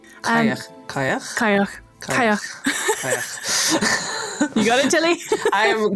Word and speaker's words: Cailleach: She, of course, is the Cailleach. Cailleach. You got it, Tilly? I'm definitely going to pronounce that wrong throughout the whole of this episode.